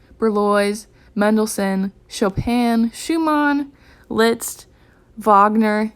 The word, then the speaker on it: Wagner: mendelson chopin schumann litzt wagner it's not wagner i thought it was wagner for the longest time but it's a german name so the w is pronounced like a v little tip trick you